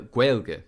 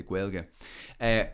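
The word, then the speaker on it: Gaeilge: irish speaking uh quail quelge really is how we pronounce it here we don't say gaelic or or irish or anything like that we say guelga that's more a privilege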